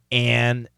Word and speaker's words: an: The word "an," okay, is a short A. But typically we pronounce it with a short E. Okay, and I like to tell students when you have an engine, okay, it's going to be